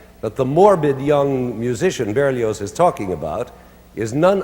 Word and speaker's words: Berlioz: That's Berlioz, the Z is pronounced.